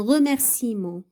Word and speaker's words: remerciement: Exemple عندنا هنا le E un remerciement ما كنطقوش le E un remerciement. Thé, شاي je bois du thé. Donc, remerciement. La lettre E, elle est muette, on ne la prononce pas.